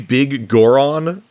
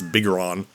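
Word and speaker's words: Biggoron: It's supposed to be Big Goron, as in a very large Goron, but the way it's spelled, it makes me, like, it looks like it's Bigoron.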